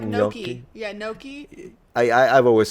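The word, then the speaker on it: gnocchi: like noi like noi because in Italian the word if you say the word Nai it means Walnut so not only you're mispronouncing this word but I will misunderstand you and I will think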